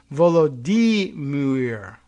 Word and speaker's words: Volodymyr: They gave a pronunciation for Vladimir. It's Volodymyr.